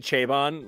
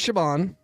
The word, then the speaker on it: Chabon: shabon really oh yeah I've always said chabon like somebody's trying to have trouble pronouncing chabani I I hope it is shabon and I hope I